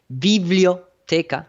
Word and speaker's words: biblioteca: And then, of course, they started to create all the libraries, which, in Spanish, library is pronounced biblioteca, like the Biblia, biblio, because everybody knows that the Bible is like a compendium of many books.